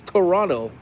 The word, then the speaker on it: Toronto: but they said the T was silent, so it's Toronto.